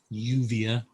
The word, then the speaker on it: lluvia: And the double L, the L, can be a y sound, as in lluvia, rain, or a j sound.